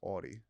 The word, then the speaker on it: Audi: Audi. It's pronounced Audi.